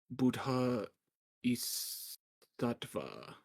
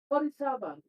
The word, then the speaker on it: Bodhisattva: We received a miracle from our Buddha Isattva. Buddhasiva. What word? Bodhisattva.